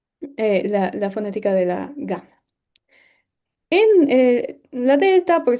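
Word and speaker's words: gamma: Ahora bien, la gama no se pronuncia exactamente igual que la g, porque nosotros pronunciamos, por ejemplo, G y Ji, cuando no hay una u en el medio. En cambio, en griego todas las ges hay ciertas excepciones, pero que no, bueno, son diferentes a las del español,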